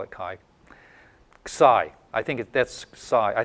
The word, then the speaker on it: psi: this one right so that's Sai there's a little s in there oh like like that that's that's PSI this one is chsi or something like it's kind of pronounced like that Sai it's it's a little